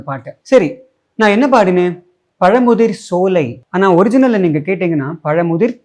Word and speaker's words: பழமுதிர் சோலை: சோலைக்கும் என்ன பெரிய வித்தியாசம் தமிழ்ல தா என்கிற எழுத்துக்கு உச்சரிப்பு சாதான் சிரிப்பு சோறு ஆனால் இச்சுக்கு அப்புறம் வரக்கூடிய சாக்கு சா என்றுதான் உச்சரிப்பு பார் எக்ஸாம்பிள் பச்சை மெச்சினான் சோ பழமுதிர் சோலைக்கும் பழமுதிர் சோலைக்கும்